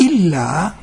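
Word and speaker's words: إلا: Nah, perhatikan kata ila, lamnya tidak double. Ila itu kepada, tetapi illa kecuali.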